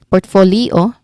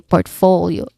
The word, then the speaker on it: portfolio: because it's bl it blends with the last sound or last syllable o. So leo leo instead of leo portfolio of course you say portfolio we blend the last two syllables here. Okay to sound to make it sound more natural.